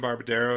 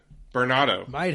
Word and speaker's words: Bernardo: I think I said his name wrong. Bernardo. Bernardo. Dan Bernardo.